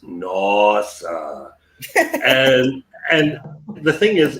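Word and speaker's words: nós: sound because it's not it's never pronounced nasa it's always pronounced nos and and the thing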